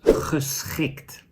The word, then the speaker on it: geschikt: And the final example for this sound is geschikt. So there is a G in this word and there's a CH. Both are pronounced as the same sound.